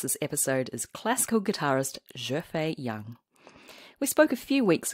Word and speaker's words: Xuefei Yang: And also before we start, can I just ask how to pronounce your full name? Xuefei Yang.